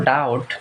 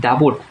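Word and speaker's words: doubt: পর্যন্ত ক্লিয়ার কিনা জাস্ট খালি ক্লিয়ার বলবা নো ডাউট এটার কোন সন্দেহ নেই নো ডাউট কোন সন্দেহ ডাউট বানানো অনেকে পারে না ডাউট ডাউট ডাউট বানানো কেমনে জানো ডি ও ইউ বি টি ডাবট উচ্চারণ কিন্তু হয় ডাবট কিন্তু বলতে হয় ডাউট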